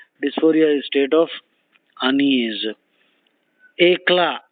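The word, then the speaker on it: éclat: Ekla, E-C-L-A-T, the T is silent.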